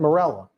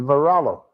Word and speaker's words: Morello: Does he know Dan's last name is not Morella? It's Morello. Well, well, Tony's not always the best with the pronunciation.